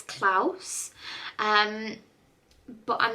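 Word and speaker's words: Klaus: another animated one um I'm going to say Clause is how you say or clous so it's k a sorry k l a u s I think it's clouse um but I'm not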